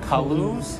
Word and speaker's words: Kaluz: her salad my friend how do you pronounce the name of this restaurant Kalu's Kalu's okay shall we say in any way I was between Kalu's and ke lose its colors make sense